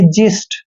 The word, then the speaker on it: xyst: दोस्तों एक्स के बाद जब भी वाई आता है तो भी एक्स का उच्चारण हमने जय करना है। वाई को ई की मात्रा पढ़ते हैं और एस का उच्चारण स करना है और टी को ट पढ़ना है, यानी कि जिस्ट।